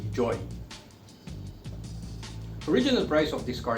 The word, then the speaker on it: Joie: originated from the uk most of us might pronounce it as joey but the correct pronunciation is actually joy original price of this